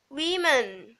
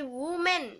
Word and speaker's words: women: เป็น อ้อ อัน นี้ อ่าน ว่า women women ไม่ ใช่ woman woman อ่าน women women เป็น พหุพจน์ ของ woman